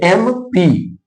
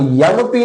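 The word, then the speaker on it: MP: जिनको नहीं पता है वो ए भरेंगे, लेकिन पढ़ लेना पहले एम पी। ठीक है, वो यम पी नहीं होता जो हम पढ़ते हैं यम। यम क्या है? गलत प्रोनाउंसिएशन है एबीसीडी में।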